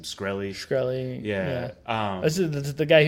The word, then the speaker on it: Shkreli: I can't pronounce his last name. Shkreli.